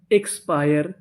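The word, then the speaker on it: expire: ई एक्स एक्स ई आई आर ई पायर। एक्सपायर एक्सपायर।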